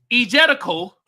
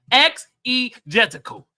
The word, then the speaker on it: exegetical: And Byron says, egetical. Is that how you say that word? Oh, here you go. Produce it like a motherfucker. Exegetical. He pronounced it for me.